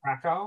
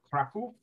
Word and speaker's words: Kraków: We can go to one of the more important cities in Poland, which is Krakow or Kraków, as they pronounce it in Polish.